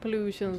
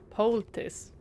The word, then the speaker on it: poultice: We could have done some health pollutions, but darn it. Pollutions. Oh, poultice.